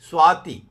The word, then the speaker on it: स्वाति: कहीं बड़ी की मात्रा लगाई जाती है, लेकिन शुद्ध छोटी की मात्रा, स्वाति नक्षत्र। बोलने में वो प्रोनाउंसिएशन में थोड़ा सा ना एग्जैक्ट छोटी की मात्रा आती, ना एग्जैक्ट बड़ी की मात्रा। स्वाति कहेंगे थोड़ा सा हल्का सा लगता है, स्वाति।